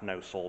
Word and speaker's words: Gnosall: the church of lawrence gnosol pronounced no soul but one likes to give these silent letters their due it's as you can